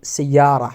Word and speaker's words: سيارة: But if they are attached from another word, we have to pronounce it سيارة or Medina without ta sound, okay?